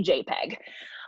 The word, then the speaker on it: JPEG: say it better because when you say jpg not many people might know it's we say jpeg um but it's a